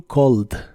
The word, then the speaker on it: called: se pronuncia como a la e del final no se pronuncia pero las demás palabras